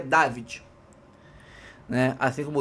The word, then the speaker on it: Davide: Eu vi aí a pronúncia em italiano dele, dizem que é David, né?